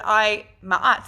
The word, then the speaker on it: Ma'at: So today, I thought it was really important to start off with Ma'at, otherwise known as Ma'at, but Ma'at, that's how I pronounce her name.